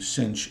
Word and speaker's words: sinh: This is pronounced cinch.